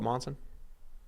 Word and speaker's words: Monson: This is how you're supposed to pronounce it. Monson. Yeah, see again, different. It's a U, not an O. It's wrong. Didn't they spell it Monson?